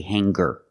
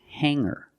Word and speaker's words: hanger: these words with ER I don't pronounce the G sound it's just the nasal um linked together with the ER together hanger there's no G sound I cannot say hanger I cannot say singer it's hanger and singer example he